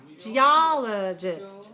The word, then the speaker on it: geologist: this in our title how do we pronounce it third syllable weak and the last syllable also a very weak watch geologist geologist geologists geologist very